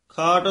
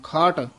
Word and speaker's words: खाट: बारा अंतर एक सेरेव खाट दर्शन एक पंथा हा खाट बोला ही बोलना खट नहीं कहना है खाट दर्शन एक पंथा